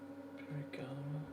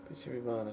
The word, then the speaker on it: Bijirimana: Birigama. Bijirimana, sorry, not Birigama. I always pronounce his name wrong.